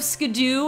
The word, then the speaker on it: Skiddo: Well, don't mean to spoil anything, but the anime calls Skiddo Skidoo, and we have no other, way of knowing of an official pronunciation. But Skiddo is spelled Skiddo. It's not spelled Skidoo. If it were spelled Skidoo, there would be two O's.